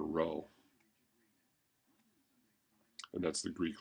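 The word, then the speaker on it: rho: sake of notation my rows usually look something like this and that's pronounced row and my P's I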